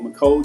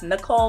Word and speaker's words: Michole: People think it's Nicole, but it's Michole with the M.